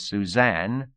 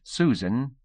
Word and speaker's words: Suzanne: we blind this woman her name is Suzanne though I fear most of us here have always pronounced it Susan the large lives or